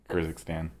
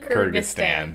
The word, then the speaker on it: Kyrgyzstan: wouldn't i would definitely say this is russia kurzick stan kurt kurt i don't know how to pronounce that kyrgyzstan kyrgyzstan that's it that's the one that's the one